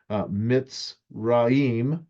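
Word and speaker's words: מצרים: So Mitzrayim is also how you could pronounce it, and probably more precise.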